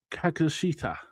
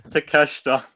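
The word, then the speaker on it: Takeshita: Uh John Moxy will defend his AW Continental Championship in a no time limit match against uh uh say his name wrong. Kakashita. It's Teeshta.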